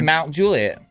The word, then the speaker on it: Mount Juliet: It's called the Mount Juliet Estate. Not mountain.